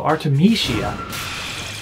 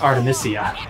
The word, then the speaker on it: Artemisia: Oh, Artemisia. That's how it's pronounced, not Artemisia.